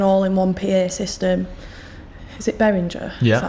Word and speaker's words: Behringer: Is it Behringer? Yeah. Is that how you say it? Yeah. Behringer.